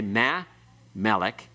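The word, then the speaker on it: מַה־מֶּלֶךְ: You don't say ma, melech. It's mamelech. It's pronounced as one word.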